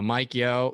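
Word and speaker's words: Yeo: the can um uh mike yo yeah i believe how you say it why yes no yeah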